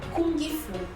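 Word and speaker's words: 功夫: Você não vai falar o G.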